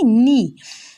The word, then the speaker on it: knee: নি, KNEE, নি মানে হাঁটু। এখানে কে উচ্চারণ হবে না, কিন্তু কে থাকবে।